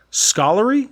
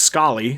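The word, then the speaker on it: Scollay: like yeah so uh i looked it up and it's pronounced scully so mayor murphy and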